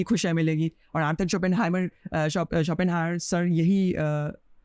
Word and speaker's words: Schopenhauer: और Arthur शोपेनहायर सर यही, sorry for my pronunciation, actually शोपेनहाइमर में वो कभी कभी बोल देता हूँ, शोपेनहायर है वो एक्चुअली, तो वो, लेकिन आर्थर